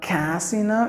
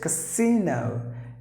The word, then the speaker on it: casino: So remember, here it is not casino, it is casino.